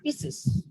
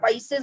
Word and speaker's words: Pisces: One is Pisces, বা অনেকে উচ্চারণ করে পিসেস। এক কথায় ফিশ, মৎস্য শ্রেণী, এদেরকেই আমরা পাইসেস বা পিসেস বলে।